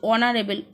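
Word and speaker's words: honourable: is dash অনারেবল ম্যান এইচ দিয়ে শুরু বাট উচ্চারণ হচ্ছে অনারেবল ও বায়েলের উচ্চারণ হচ্ছে তো সেক্ষেত্রে কি বসবে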